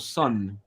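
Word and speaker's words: Sunn: before that he did there's a drone band called Sun there's an o with a lot of things but you don't pronounce that it's just sun with a double n and this is called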